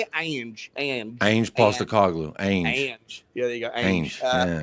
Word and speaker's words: Ange: Ange.